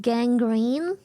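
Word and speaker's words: gangrene: I need to know don't Google it it's pronounced Gang Green Gang Green I've warned you I'm a strong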